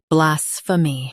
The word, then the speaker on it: blasphemy: Today, we will learn how to pronounce the word shown on the screen, blasphemy. Both US and UK have the same pronunciation of this word. Stress blah. Keep sfa soft, then me clear.